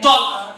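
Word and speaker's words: talk: अंग्रेजी में अल्फाज़ है टी ए एल के टॉक तो इसको अभी हम लोग टॉक बोल ए को साइलेंट कर दिया लेकिन ऐसा होता था कि पहले जमाने में उसको टॉक ही बोला जाता था उसके बाद अंग्रेजी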